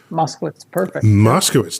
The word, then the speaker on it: Moskowitz: you Toby and I want to get the pronunciation of your last name Moskowitz Moscow is taupe Toby Moscow and I got a little